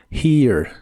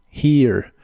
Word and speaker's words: here: here que significa aquí Recuerda que la H se pronuncia como una j bota suave de español here here usaremos la palabra dinner